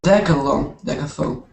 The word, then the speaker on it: decathlon: Oh, decathlon.